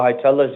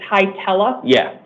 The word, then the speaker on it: Hietala: So the A is an E? It's Hietala. Okay, so the first A is pronounced like an E.